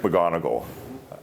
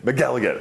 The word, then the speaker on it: McElligott: Patrick McGonigal, I worked with him a lot, right? McElligott? McElligott. I always say his last name wrong.